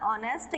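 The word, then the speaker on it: honest: नहीं करना था, ऑनेस्ट, ये एच है, कॉन्सोनेंट है, लेकिन जब हम इसका प्रोनाउंसिएशन करेंगे तो ये किसकी आवाज निकाल रहा है, ओ की आवाज निकाल रहा है, जो कि क्या है, एक वॉवेल है, स्वर है, तो हम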